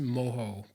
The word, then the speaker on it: mojo: Cuban slow cooked pork I know in that case it's pronounced moho but it still makes